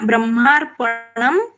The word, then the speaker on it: ब्रह्मार्पणं: ब्रह्मार्पणम, आगे ब है इसलिए अनुस्वार का उच्चारण म जैसे आया।